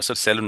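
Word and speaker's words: salon: আমরা যখন যে সেলুন, সেলুন না সালুন উচ্চারণ হবে, সালুন।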